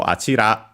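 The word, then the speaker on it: あちら: And so achira on its own is unaccented.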